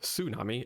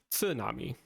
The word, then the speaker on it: tsunami: borrowed that word from it's not tsunami it's tsunami right it's a ts up front but in english even